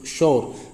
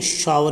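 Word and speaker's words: shower: ये क्या बोला जाएगा, शोर बोलते हैं कोई, शोर, ये शोर नहीं है, शावर ही बोला जाएगा, शावर, शावर मतलब खट्टा।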